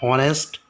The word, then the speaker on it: honest: But an is also used for the words beginning with silent H and giving vowel sound. Look at the first example, an hour. Second, an honest.